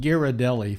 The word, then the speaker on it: Ghirardelli: By the way, that's pronounced Ghirardelli, folks, just in case you don't know.